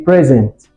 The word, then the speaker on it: present: See, a present, a gift. Now, for present, the stress is on the first syllable.